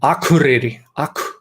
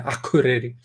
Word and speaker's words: Akureyri: So Akureyri, K is particularly strong, the Akureyri, and a little bit stronger with their vowels.